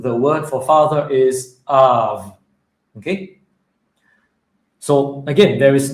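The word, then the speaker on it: אב: So, let's put it together. av av All right? And that's how to pronounce this word, av.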